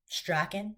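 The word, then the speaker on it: Strachan: He wants his name to be pronounced Straen. So, Straen and John Nyder and Jaden Bray.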